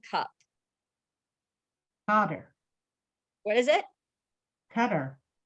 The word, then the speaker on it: Qatar: honor what is it cutter it depends where you put the influences all right let's see if we got him right guys so Qatar cutter Saudi Arabia got five